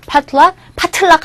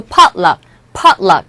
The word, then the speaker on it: potluck: 파틀락 하지 말고 potluck 이라는 식으로 발음해 주시면 되겠습니다.